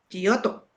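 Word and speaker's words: Giotto: Si no estoy mal, creo que se pronuncia Guoto, el que pintó el beso de Judas. Ajá. Gioto.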